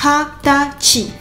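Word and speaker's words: はたち: C'est hatati. Alors ça sort de nulle part. C'est comme ça. Il faut le retenir. Hatachi trois syllabes Hati.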